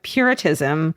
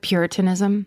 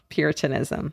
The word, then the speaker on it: Puritanism: the congregationalist church which grew out of Puritism. Is it Puritanism? Mhm. So when William is three years old, his mother died. I just Sorry, you just mispronounced Oh, Puritanism.